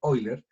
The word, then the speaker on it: Euler: diagramas de Euler, o realmente como se pronuncia originalmente, Euler, se van a dar